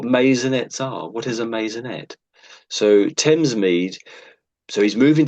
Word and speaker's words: maisonette: Masonette. I'm in the habit of putting a Z there.